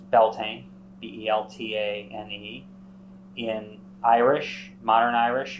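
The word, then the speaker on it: Beltane: Irish Modern Irish or English in English it's belting b-e-l-t-a-n-e in Irish Modern Irish you'll see um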